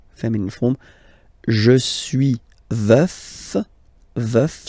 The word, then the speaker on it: veuf: Veuf, so remember to pronounce the final F, veuf, and then the feminine form, je suis veuve, veuve, veuve.